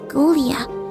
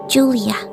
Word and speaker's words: Ghoulia: I meant to say my name is Golia not Julia she giggled for our friend